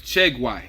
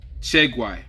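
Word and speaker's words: Tieguai: So his name is Tiegwai. That's how you say it. Tiegwai.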